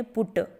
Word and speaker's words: put: फिर दूसरा है PUT, उसका लिखने का तरीका वही है जो बट का लिखने का तरीका है, लेकिन उसको पढ़ा जाता है पुट।